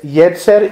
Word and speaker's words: yetzer: y Jer to la manera en que que se escribe es yetzer y e t Z e r yetzer yetzer